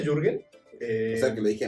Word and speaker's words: Jürgen: te identificas Okay Eh bueno se pronuncia jurgen eh sea que lo